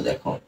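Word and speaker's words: though: করি দো এটা কিন্তু এখানে কিন্তু আপ সাউন্ড ক্রিয়েট করবে না এটা কিন্তু তোমাকে মাথায়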